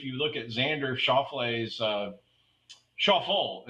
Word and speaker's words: Schauffele: And really, if you look at Xander Schauffele's Schauffele is how he pronounced his name when introduced. So I guess we've all been wrong.